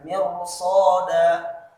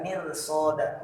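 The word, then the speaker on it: مرصادا: Jadi ra-nya tebal dibaca. Mirsada. Tidak mirsoda, tapi mirsada.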